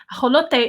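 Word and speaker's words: ajolote: Mexico is a holiday a holiday is how you say axolotl in Mexico very very good who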